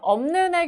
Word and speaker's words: 없는: 자, 그 다음에 없는의 경우를 잘 보셔야 되는데요. 일단은 자, 비읍, 시옷 중에서 비읍만 발음이 됩니다. 자음군 단순화가 일어나는데 문제는 비읍하고 니은이 만나잖아요. 그러면 없는 이렇게 발음이 돼요.